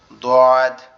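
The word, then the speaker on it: ض: যে কোনো এক সাইডের উপরের মাড়ির সাথে লাগবে, আমাদের জিহ্বার গোড়া যে কোনো এক সাইডের মাড়ির সঙ্গে লাগবে, লেগে উচ্চারিত হবে দদ, দদ। এই দদের উচ্চারণটা কি সব থেকে কঠিন?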